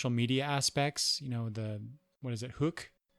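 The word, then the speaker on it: Hooq: Hook. It's spelled H-O-O-Q. So is it I would pronounce that hook, not hook.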